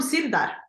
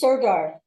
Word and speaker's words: Sirdar: It's from Sirdar. I don't know, Sirdar? How do you say it in English? Sirdar. Sirdar, because it sounds almost Swedish, Sirdar.